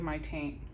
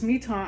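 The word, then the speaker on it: Mi-Teintes: this on um Mito it's spelled like my taint my taint pastel paper um but it's me ton I did it on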